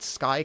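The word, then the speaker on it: Skai: the in the name it matches an existing word so people can pronounce it already and SK is the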